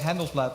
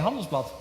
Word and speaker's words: Handelsblad: the most promise prominent I said handle flap right I even worked there so you should know that you pronounce it NSA hums box it's not not related or affiliated with the with the German humble spots just so you